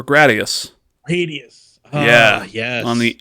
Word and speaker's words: Gradius: First appearance of the Konami code was in, I think I pronounce it this way, Gradius or Gradius.